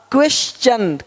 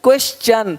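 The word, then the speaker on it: question: आगे य आर आए तो टी का उच्चारण च होता है देखो यहां पे टी का क्या होगा च क्वेश्चन क्वेश्चन अब क्वेश्चन नहीं बोलते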